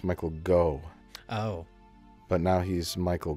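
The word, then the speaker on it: Michael Gough: His name is Michael Gauch, I think. No, I think it's pronounced Michael Go.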